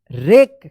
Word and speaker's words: wreck: WRECK रेक क्या पढ़ेंगे?